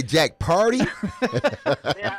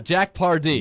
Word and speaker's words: Pardee: was it Jack Hardy did you say Jack party that's how they say it down here in Tennessee a party party on party Jack Pardee that's the answer we'll